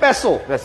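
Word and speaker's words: Passo: যেমন এটা আসলে পেসো, হ্যাঁ আমরা বলতেছি পাসো।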